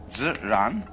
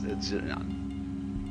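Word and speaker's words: 自然: We use the word nature for the Chinese expression ziran. They pronounce J like a sort of unrolled R.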